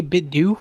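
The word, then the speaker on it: 8BitDo: out and so a bit doe which I so I don't know some people call it a bit dupe but it's like spelled like a bit doe we've talked about these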